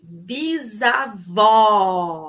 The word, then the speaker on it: bisavó: bisavó ai pronuncia comigo aí bisavó bem aberto bisavó bisavó é feminino